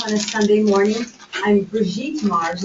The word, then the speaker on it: Brigitte: I'm Brigitte Mars. It's actually a French name. It rhymes with sweet. You know, sweet Brigitte.